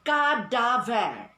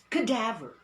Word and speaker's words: cadaver: never be stressed so you do not say god dave no you glide this you glide that you stress this that is why we say cadaver cadaver the cadaver of